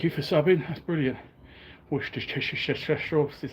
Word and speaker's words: Worcestershire: Worcestershire is how you pronounce it.